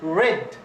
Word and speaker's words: read: They're read. Okay, it's like this one. Red. So, red is the past of read. The same pronunciation of the color red.